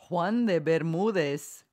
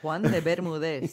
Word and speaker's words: Juan de Bermúdez: So the island of Bermuda actually was named after, and how do you pronounce that guy's name? Juan de Bermúdez. Exactly, that guy. Juan de Bermúdez.